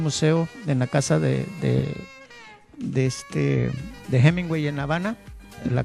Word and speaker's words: Hemingway: En buen lenguaje coloquial cubano dijo: adiós Hemingway, o sea, con J y con G y diéresis en la U, que en acento cubano,